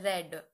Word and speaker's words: read: The spelling remains same, but the pronunciation of second and third form of read is read.